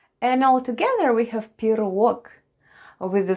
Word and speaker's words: пирог: And the last new word for today is пирог.